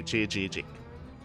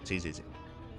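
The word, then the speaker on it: Chzzk: So from my understanding, the way to pronounce it in Korean, because it is a Korean word, is the double Z's. You pronounce each one with like J-I. That's why I say Chijik. Chijik. There you go. So like J-I.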